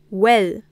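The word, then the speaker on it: oel: So oe plus L is well, 1 syllable.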